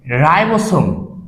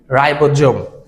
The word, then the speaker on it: রাইবোসোম: হচ্ছে, এখানে একটা অঙ্গাণু পাওয়া যায় নাম হচ্ছে রাইবোসোম, বা আমরা বাংলাতে উচ্চারণ করলে বলি রাইবোজোম।